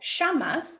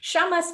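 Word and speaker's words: Llamas: get a good angle shamas l-l-a-m-a-s my family's from argentina so i my double double l's are pronounced a little differently shamas family winery um in carneros this is their chardonnay 2016.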